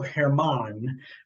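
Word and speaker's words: Germán: know the name the name is uh Domingo Hermann but it's spelled like German with a little so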